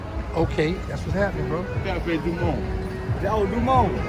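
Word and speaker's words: Café du Monde: Cafe du Monde. Oh, Dumont. Cafe du Monde. Yeah, the E is silent.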